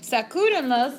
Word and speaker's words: sacúdenlos: But also, we need to have emphasis, because now we're increasing the amount of syllables, so it affects the pronunciation. Sacúdenlos is saying what? Dust them, right? Los referring to los muebles, masculine plural. But now our accent mark is in the middle of our verb.